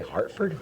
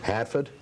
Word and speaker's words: Hartford: How you say Hartford? Hartford. I thought people up here pronounced it different. Hatford. Hatford. Well, that's what they say. If you're from Boston, it's Hatford. If you're from Hartford, it's Hartford.